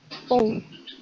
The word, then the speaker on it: peau: Kemudian ada peau itu dibaca po.